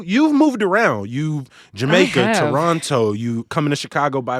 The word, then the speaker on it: Toronto: yeah yeah because because we don't say the second T right it's Toronto not Toronto okay as you Americans say but um so my